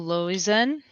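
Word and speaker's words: Loizen: sent you correct lovely my name is constable losen could you perhaps spell that certainly l o i z e n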